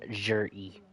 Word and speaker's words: Zhiyi: Chinese names are weird. It's spelled Zhiyin, but it's pronounced Jer-E.